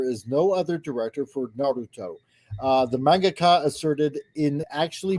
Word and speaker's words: Naruto: Say it, Appion. Say it. Naruto. It's Naruto. Naruto. Don't say it like an American.